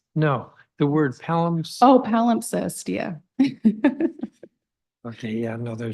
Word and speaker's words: palimpsest: How do you pronounce it? Gabrielle. No, the word palimpsest. Oh, palimpsest, yeah.